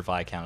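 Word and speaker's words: viscount: count I'm pretty sure I'm pretty sure viacount is the right way to pronounce it they invention invented emojis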